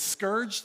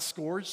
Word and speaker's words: scourged: And it's scourged, not scourged. Does anybody know that?